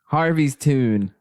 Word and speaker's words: Harviestoun: I need them to just have that noise in their head as that's how it's pronounced. Harviestoun.